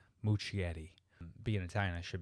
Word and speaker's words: Muschietti: couple photos and now director uh andy andy muschietti i think i pronounced that right i always butchered his name muchietti being an italian i should be able to